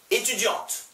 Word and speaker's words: étudiante: étudiante, étudiante. 오케이? 지금 때 나와요. 어 있으니까, 어 발음 안 나오고, 때 나와요.